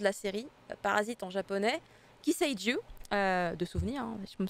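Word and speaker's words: 寄生獣: le nom de la série, Parasite en japonais, Kiseiju, de souvenir, hein, je me semble que ça se prononce comme ça.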